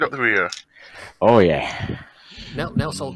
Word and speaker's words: Nelsol: Nelsol grunts in disapproval that you keep getting his name wrong. Nelson.